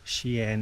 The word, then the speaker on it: Xi'an: Xi'an, Xi is pronounced Xi, so Xi'an.